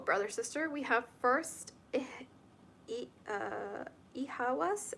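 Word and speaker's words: Eihwaz: We have first Ihawas. It's spelled E-I-H-W-A-Z.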